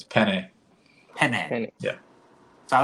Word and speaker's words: penne: sitting together, and she's like, "Man, I love peenie pasta." I'm like, "What the hell are you talking about? Damn. Peenie." So, how do you? Okay, what's the inflection? How do you say It's it? penne.